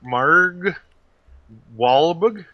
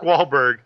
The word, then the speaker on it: Wahlberg: to pronounce this mar mar wal it's a soft it's a soft R it's a soft R it's Mark Wahlberg uh directed by Peter